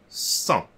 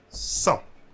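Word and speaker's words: cent: 100. So we are not pronouncing the T at the end. So one more time. 100.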